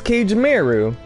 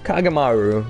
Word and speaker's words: Kagemaru: guy come from use cage Meru I like how you pronounce cage Mary's name with a strong American accent and then normally well you know kagemaru k jamero he's a